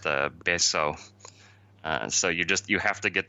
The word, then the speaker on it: Betio: The capital area of Tarawa is spelled Betio, but it's pronounced Beso.